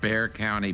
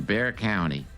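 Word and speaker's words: Bexar: It's called Bear County, but it's spelled B E X A R. Don't ask me why they don't pronounce the X, but anyway, that's what it is. in Bear County.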